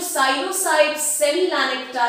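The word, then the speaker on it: Psilocybe semilanceata: Coming to question number 6, इसको P silent रहेगा, ध्यान रखिएगा और इसको प्रोनाउंस कीजिएगा साइलोसाइड सेमिलानेक्टा। साइलोसाइड सेमिलानेक्टा इज, तो बेसिकली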